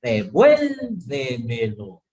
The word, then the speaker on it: devuélvemelo: Por ejemplo, devuélvemelo. ¿Sí? Ahí está el tilde de la E, ¿no es cierto?